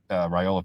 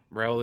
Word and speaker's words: Raiola: Bobo was involved in this thing for a while, even before Monken left, and obviously Raiola felt comfortable enough with it after Monken left to be like, yeah, I want to go play for Mike Bobo for sure.